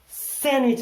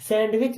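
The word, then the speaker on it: sandwich: मम्मा सैंडविच बना दो।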